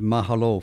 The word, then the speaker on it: mahalo: You did get it right. Mahalo. Sounded good, too. Mahalo. Sounded very good. You emphasized the second syllable.